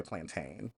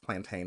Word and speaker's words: plantain: to do is fry plantain. And by the way, for my English speaking Caribbean folk, don't come for me because in West Africa it's pronounced plantain, not plantain.